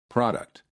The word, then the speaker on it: product: with p r o in the first word the first syllable is stressed and therefore the P sounds like Pro and in the second